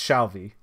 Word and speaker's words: Shalvey: by uh declan and i always butcher his last name shalvie i think it's shalvie in my mind i add like four extra syllables but his info is